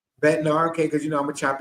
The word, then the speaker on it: Bednar: Bednar, okay, because I'm gonna chop his name up, not being disrespectful.